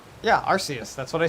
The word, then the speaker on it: Arceus: also a january release gotcha okay um it's pronounced arceus yeah that's what i said arxius yeah arceus that's what i said say arc arse arc